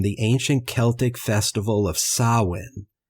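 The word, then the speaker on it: Samhain: These immigrants brought with them folk customs from the ancient Celtic festival of sawin. It's spelled s a m h a i n but it's pronounced sawin.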